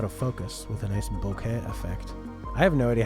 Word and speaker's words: bokeh: So this statue that's in the foreground and out of focus with a nice bokeh effect. I have no idea how to pronounce that.